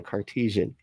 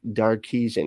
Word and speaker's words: Cartesian: So, I said it right this time, Cartesian. I always say like Darkesian, because his name's Descartes, and that's who we're talking about, Descartes, and it's a Cartesian.